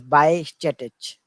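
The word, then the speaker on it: Bajčetić: correct it's pronounced as by status yeah the J is silent so the jaw J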